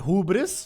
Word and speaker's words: hubris: Dude, in one YouTube video, I said hubris, and somebody commented hubris, but like with two O's. He said H-O-O-bris. Hubris.